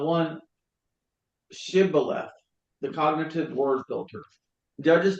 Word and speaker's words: Shibboleth: The Ephraimites could not pronounce the word the sound sh, saying Siloleth instead of Shibboleth.